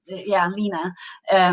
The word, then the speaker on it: Line: But also often when I say my name is Lina, if people don't see the spelling of it, they will say, "Oh, my, Russian grandmother was Lina."